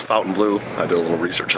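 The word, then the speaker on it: Fontainebleau: guys in front of the F Fountain Blue Fontaine Blue whatever you want to say I think it's actually pronounced Fountain Blue so if you're saying it differently it's Fountain Blue I did a little research on that today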